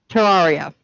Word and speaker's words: Terraria: the game to tear how do you pronounce it terraria thank you he's in